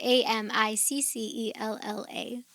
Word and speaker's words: Amiccella: It's AMICELLA with the ch sound. AMICCELLA. 2 C's, 2 L's.